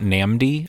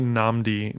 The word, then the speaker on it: NNAMDÏ: absolutely nothing um also I'm going to say namdi there's an actor named namdi asamoah yeah and that's how he pronounces his name so I'm gonna go with that okay um oh do